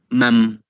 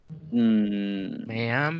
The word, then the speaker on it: ma'am: ¿Cómo se pronuncia lo de ma y am? Mam. ¿Así, mam? Mam. Es como... Excuse me, mam. Ajá, mam. Es como si fuera... Ma'am. Es una or forma ma'am, cortés.